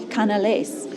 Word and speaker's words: canelé: But right behind me, we have to go try one of Bordeaux's infamous canelés. Canelés? Canelé, I think that's how you say it.